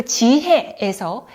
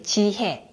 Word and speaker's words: 지혜: 창조에 이렇게 발음하죠 그리고 지혜에서 예 발음 살펴볼게요 지혜 예 예는 이에가 결합된 발음이에요 이에 이에 이에 지혜